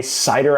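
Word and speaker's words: CIDR: Cider blocks. God bless cider blocks, right? How do they work? Cider size. I always call it cider. Lane might have other ways of pronouncing it that are wrong, but you you pay attention to me.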